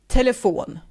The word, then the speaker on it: telefon: Sport pronounced like sport. Sport. Sport. And telephone, telefon.